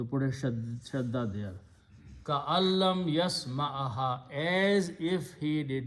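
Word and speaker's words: كأن لم: And in the pronunciation, you don't pronounce noon, so you pronounce ka'al. So you put a shadda there. Ka'allam yasma'aha, as if he did not hear.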